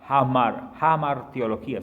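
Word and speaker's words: hamartiología: La sexta doctrina es la doctrina del pecado y esa se conoce como hamarteología, se escribe con H, hamarteología, pero se lee hamar del alma, del cuerpo,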